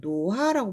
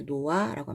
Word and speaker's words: 놓아: 비어 있으니까 그대로 하면 노하라고 발음하는 게 맞잖아. 원래대로 하면. 근데 노하라고 발음하지 않고 히읗을 아예 발음을 빼버린다는 거죠. 그래서 노아라고 합니다.